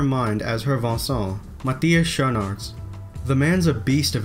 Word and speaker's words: Schoenaerts: Is that really how you pronounce his name? Schoenaerts. Good to know. Matthias Schoenaerts, of course. Our Belgian. Is that how I say it, Schoenaerts? Schoenaerts. Schoenaerts. I've been saying Schoenaerts. Schoenaerts. Schoenaerts. And hi, I'm Matthias Schoenaerts. He doesn't even know how to say his name to the people so they can, like, you know. Enunciate it? Yeah. No, because the Flemish way is absolutely not the English way, so.